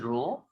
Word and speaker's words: rho: and that constant of proportionality is called, the pronunciation is rho, and the physical quantity this is representing is resistivity.